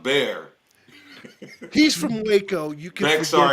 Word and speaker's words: Bexar: First time when I heard of Bear County, I thought it was Bexar too. I was like, Oh, Bear County. Bear, Bexar. Bexar. just say it the way it's spelled, Bexar.